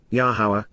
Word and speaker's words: Yahowah: not, lo, me, any, Yahowah, the proper pronunciation of Yahowah based upon his Torah, teaching regarding his higher existence.